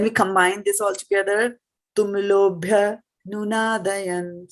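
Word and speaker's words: tumulo 'bhyanunādayan: So bhya, you see, because of the apostrophe, right? So we will pronounce this much part together. This much of it will come together. Tumulo bhyanunādayan, like that. Okay. All right. So So- Mataji, we can combine tumulo bhya. That is the reason. Okay. Whenever there is apostrophe here, it gets combined, right? Okay. Yeah, because that A is silent.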